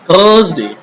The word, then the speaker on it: Thursday: Thursday is the wrong pronunciation. Okay, so you have to pronounce in such a way like Thursday. Thursday. R should be silent.